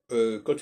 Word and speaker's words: quand: de même que donc il y a deux lettres le G et le Q qui quand elles sont suivies un U le u ne se prononce pas en français son fait partie des my de la langue française les règles de la langue françaiseè qui sont pas tellement bien connues et qui font que quand on pose ce genre de question les gens ne répondent pas or par exemple prenant le mot quand Q a on dit